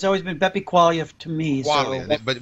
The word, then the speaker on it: Quaglia: You know, our buddy Beppe Quaglia, you say the G is silent. I never know quite how to say it in my good Italian. I've known it for 20 years, and it's always been Beppe Quaglia to me.